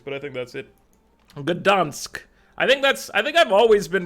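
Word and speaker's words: Gdańsk: Gdansk. I think I've always been pronouncing this one mostly correctly.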